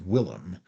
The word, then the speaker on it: William: Finally, he defeated the unlucky Charles with the aid of William, which the curé pronounced Willem, the Conqueror, which is why so many English still come to visit the place.